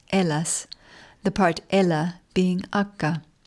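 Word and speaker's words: Hellas: Helas, pronounced Ellas, the part Ella being aka when it was freezing cold three years in a row 3650 years ago, exactly 1648 BC.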